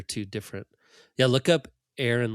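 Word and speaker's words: Éirinn: So it's like the how how do you say Ireland in Irish is Aaron is Aaron not Iron there you go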